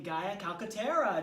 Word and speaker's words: Gaia Calcaterra: Ladies and gentlemen, please join me in welcoming Gaia Calcaterra. Did I pronounce that right, Gaia?